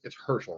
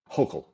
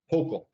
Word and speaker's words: Hochul: And then eventually it's Herschel, right? Or how do you pronounce her name? Hochul. Hochul.